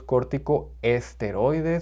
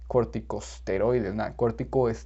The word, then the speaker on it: corticosteroids: was news to me i always thought it was cortico este because that's how you say it but no it's corticosteroids corticosteroids so i learned something